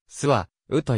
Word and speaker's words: 周防: れる読みは長く周防は行点呼が起きる前は諏訪うと言われてきた秋芳お酢はと読むか諏訪うと読むのか定説はない古代の日本語では母音が連続することはないためスハウという読みは不自然であり当初